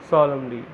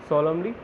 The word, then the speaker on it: solemnly: और जब उसने सुना तो देखिए क्या रिएक्शन थी, जो looked at हिम सॉलमली, okay, यहाँ एन साइलेंट है, SOLEMNLY का, तो जो लुक्ड एट हिम सॉलमली, जब उसके फादर ने